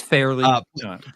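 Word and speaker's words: Farrelly: It's fairly. it's Fairly actually Brothers.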